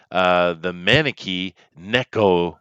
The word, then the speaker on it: Maneki Neko: Matt is the Maneki Neko master.